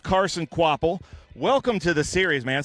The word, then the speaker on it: Kvapil: So it is pronounced Carson Kvapil.